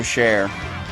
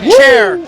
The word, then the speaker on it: Cher: You're no Cher, and you're definitely no Jack Black. So yeah, Cher- you're better oh. than that. yeah, Like Cher the singer, Cher. Yeah. Oh, I thought you were. No, a chair.